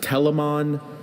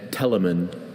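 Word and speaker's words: Telamon: Are there any alternate pronunciations? I have Telmon and Telmon.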